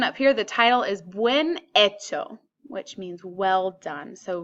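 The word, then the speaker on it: bien hecho: here the title is when Itoh which means well done so we don't pronounce this H ever so when H o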